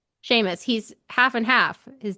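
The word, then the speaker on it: Seamus: It's like Sheamus. Oh, I think I think it's Sheamus. Sheamus.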